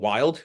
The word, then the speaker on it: Wilde: So like two good, really good options would be there's a company called Wild. It's spelled stupid. It's like WILDE. It's made with chicken broth and egg whites.